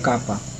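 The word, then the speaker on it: kappa: और एक क्लेन और गॉर्डन ने एक और कांस्टेंट डिस्क्राइब करा था, इसे हम प्रोनाउंस करते हैं कापा, और इसे हम स्मॉल के से दिखाते हैं।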